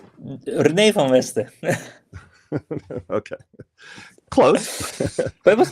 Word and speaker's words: René van Westen: And by the way, say it correctly in Dutch. René van Westen.